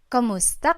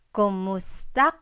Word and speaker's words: kumusta: you in Tagalog, it's kamusta ka? Kumusta ka? So it's spelled K-U-M, kumusta ka. But sometimes you might hear some people say kamusta ka, like it's a K-A sound.